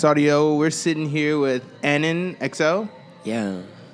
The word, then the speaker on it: AnnonXL: We're sitting here with AnnonXL. Yeah. People say it wrong all the time, right? AnnonXL. AnnonXL is not the way you say it.